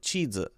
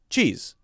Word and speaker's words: cheese: and what she said chidza notice anything i hear two syllables teta whereas i would pronounce this with one syllable cheese also notice the different